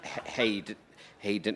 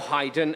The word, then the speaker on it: Haydn: Look, you're right in one respect about Haydn, or Haydn, as he liked to pronounce it.